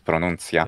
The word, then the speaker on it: pronuncia: That's pronuncia.